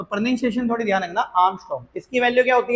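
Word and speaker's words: ångström: इसे बोलते हैं आर्मस्ट। क्या बोलते हैं इसे? आर्मस्ट करके। स्पेलिंग थोड़ी अलग होती है। ए एन जी एस टी आर ओ एम होता है। तो प्रोनंसिएशन थोड़ी ध्यान रखना। आर्मस्ट इसकी वैल्यू क्या होती है?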